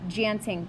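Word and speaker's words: tjanting: DJ auntie ing so there's a silent T on the beginning of that word so it's actually pronounced a Genting tool so say that chanting tool good so dancing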